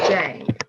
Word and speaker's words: Dieng: artist and a stunning creative mind it's zucaina dang did i say the last name right it's pronounced jay but you know i should have asked you